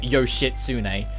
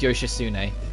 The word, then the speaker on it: Yoshitsune: pronounce it it's not yoshitsune i know a lot of people like to call it that but no you don't pronounce the tea at all it's yoshitsune the t is completely silent which is like really